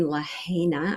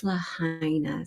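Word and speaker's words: Lahaina: I was saying Laana, I believe, and it's Lahina. So, my apologies to anyone familiar with the area. It is uh Lahina.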